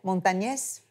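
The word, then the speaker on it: Montañez: Je suis tombée en amour de Richard Montagnès. Yeah. Est-ce que je prononce bien? Yeah, Montagnès.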